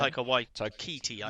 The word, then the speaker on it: Taika Waititi: Taika Waititi. Yeah, there you go. Your pronunciation better than mine.